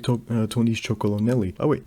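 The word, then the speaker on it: Chocolonely: Just like Tony's Chocolonelli. Oh wait, MrBeast, he can't even pronounce this correctly. He just says Chocoloni. Like, that's what he mentions.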